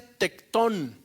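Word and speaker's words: τέκτων: Y la palabra carpintero viene de una palabra griega que se pronuncia tectón.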